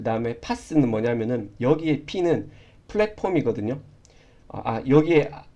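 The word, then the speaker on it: PaaS: 여기 이제 IaaS라고 적혀 있는데 이걸 이제 보통 이아스라고 읽고 그 다음에 파스, 그 다음에 사스라고 읽습니다.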